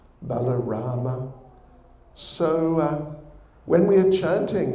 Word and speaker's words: Balarama: one of them is Balaram balarama the brother of Krishna of course this Lord Ramachandra there's also thought Parasurama Parasurama in sanskrit pronunciation balarama so when we are